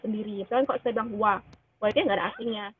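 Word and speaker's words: は: yang pertama itu adalah partikel wa walaupun tulisannya H dibacanya wa ya teman-teman Nah partikel ini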